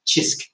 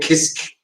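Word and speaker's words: Cisk: ever pronounces it different, it's actually pronounced Chisk. Yeah, the C is like a CH sound. Chisk. Because I called it Kisk. Yeah, they either call it Kisk or Sisk.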